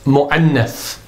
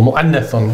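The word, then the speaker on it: مؤنث: Either words are male and they're referred to as mudhakkarun, or they're female and that term is mu'annath, or mu'annathun if we're going to pronounce the ending.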